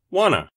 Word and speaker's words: want to: the party pronunciation tip in natural english want to sounds like wanna listen i wanna go